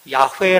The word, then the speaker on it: 야훼: 여호와 라고 하지만 이제 히브리어의 어떤 것 발음으로 보면 야훼 라고 하는 말이 이제 가장 근접한 이름일 것이다 라고 얘기합니다 이게 중요한